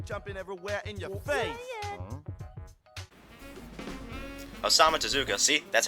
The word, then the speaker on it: Osamu Tezuka: Osamu Tezuka, see? That's how you pronounce that name, Ryan!